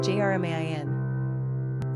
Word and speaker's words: Germain: Pronunciation, Jermain.